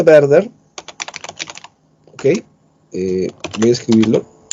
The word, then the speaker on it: Werther: Se pronuncia Werther. ¿Ok? Voy a escribirlo. Como verde, pero Werther.